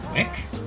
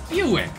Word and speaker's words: Buick: So when I was younger, and I saw Buick, I looked at it, and I said, Wick? Oh yeah? That just means Buick, right? Buick. Buick. Yeah. B-U-I-C-K.